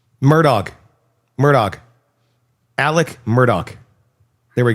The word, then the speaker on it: Murdaugh: I I have not been able to think this entire segment because how the is this name pronounced? Murdoch.